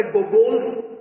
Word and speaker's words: Gogol: So since this is a Bengali background, that's why Google's first day would be the correct pronunciation.